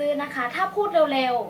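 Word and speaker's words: 礼: เก่ง มาก ค่ะ แต่ วิธี การ ออก เสียง ให้ เหมือน คน ญี่ปุ่น นั้น เขา ก็ จะ พูด เร็ว ๆ อย่าง เช่น เ อิ เป็น การ รวบ เสียง ให้ พูด ว่า เร เร เริ ก็ จะ กลาย เป็น คำ ว่า เร เหมือน ชื่อ ขนม ยี่ห้อ นึง อ่ะ นะ คะ เร อ่า นี่ ค่ะ เป็น การ ออก เสียง แบบ ญี่ปุ่น ซึ่ง คำ ว่า เร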